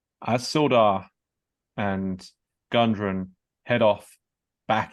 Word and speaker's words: Sildar: Stildar? Gundren or Sildar? Sildar.